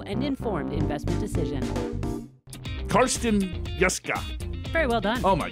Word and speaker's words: Jeske: I have to admit, I actually spelled his name so that you would pronounce it correctly. Karsten Jeske.